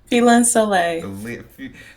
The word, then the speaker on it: Lynn Soleil: How do you pronounce the last part of your name? Lynn Soleil.